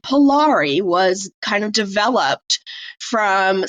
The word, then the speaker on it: Polari: Polari. It's called Polari. So it's Polari. It's also, let me find my notes. Like it's spelled a couple different ways.